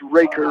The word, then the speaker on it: Recker: junior take on Jake Recker the sophomore that might be pronounced Riker right you might have correct that Jamie yeah and raiker actually did a great